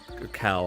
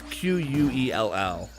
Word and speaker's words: Quell: You learned that like the person behind the major rebellion, Kel, however you pronounce her name. I think it's Kel. Kel. It's Quell.